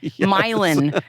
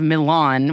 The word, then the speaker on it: Milan: Uh, like the town of Milan, New York, instead of Milan, which is why, you know, stuff like that.